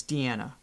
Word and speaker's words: Diana: just for the sake of her name is pronounced was I saying Diana I probably was Diana so it's Diana thank you for that stony yeah thank you